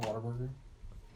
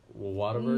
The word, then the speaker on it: Whataburger: Whataburger? No. What a burger. It's pronounced. If you listen to a Whataburger. commercial of it, they call it Whataburger.